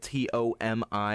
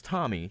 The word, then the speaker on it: Tomi: so if for clarification her name is spelled t om I it's like people would think that's oh it's Tommy no it's Tomi or when she said